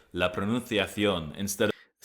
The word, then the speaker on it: pronunciación: With that being said, in Latin American Spanish, the C is read like a S that doesn't vibrate. So, it would be pronunciación, I think, rather than pronunciación, like he's saying.